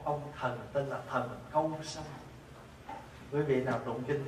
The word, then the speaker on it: câu: Nhưng mà chữ cu với chữ câu nó giống nhau, nhưng mà mình thường mình phát âm thì mình phát âm cái chữ nghe cho nó nhẹ nhàng là câu sanh.